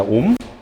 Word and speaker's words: 옴: 얘를 어떻게 읽어주시면 돼요? 얘를요? 옴이라고 읽어주시면 돼요. 옴이라고 읽어주시면 됩니다. 옴.